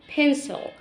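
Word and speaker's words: pencil: بنسل بنسل بنسل بنسل البي بنطلع فيها هواء البي دي بنطلع فيها هواء وخد بالك السي اتنطقت لان جه وراها اي خد قاعده عندك اكتبها في الكراسه السي لما يجي وراها اي او اي او واي تتنطق س بنسل بنسل بنسل بعد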